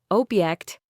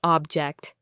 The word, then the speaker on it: object: Object. Stress on the first syllable, noun, a thing, versus object. Stress on the second syllable, verb, to disagree or protest.